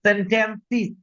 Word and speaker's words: sentences: উচ্চারণটা বলেন আমার সাথে, sentences। লিখে রাখেন, যত জায়গায় সেস আছে, সেস উচ্চারণটা হবে সিস।